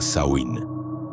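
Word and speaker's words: Samhain: Ellos llamaban a esta fecha Samhein, que se pronuncia Sain.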